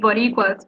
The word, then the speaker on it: Boricua: And Borica, is that right? Correct pronunciation? Yeah, so Puerto Rican people call ourselves Boricuas because the original name of the island was Borinquen.